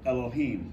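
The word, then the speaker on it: אלוהים: I think that problem kind of fixes itself once you like super accentuate the last syllable. Yep. You just rush right. When you put the emphasis on the last syllable, you can't help but say it quickly, and you skirt right by that vowel.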